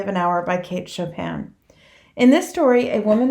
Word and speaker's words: Chopin: And it's very important that you say her name correctly. It is not Kate Chopin. It's Kate Chopin.